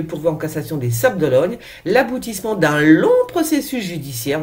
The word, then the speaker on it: d'Olonne: en cassation des Sables d'Olonne, l'aboutissement d'un long processus judiciaire, non mais faut s'imaginer. Triste vendredi saint, a écrit dans un tweet Yannick Moreau, maire des Sables d'Olonne. D'Olonne, pas d'Ologne.